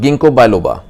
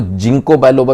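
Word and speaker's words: Ginkgo biloba: चौथी इंपॉर्टेंट दवा दोस्तों गिंको बायलोबा, इसको जिंको बायलोबा पे प्रोनाउंस करते हैं लोग, चलेगा, गिंको बायलोबा बेसिकली।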